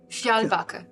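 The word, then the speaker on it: Fjällbacka: Uh priest in the fishing village of need help again with the pronunciation. Fialbaka.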